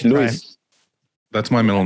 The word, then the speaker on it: Luis: you pronounce it luis it's not louise like o-u-i-s but it's lewis that's my middle name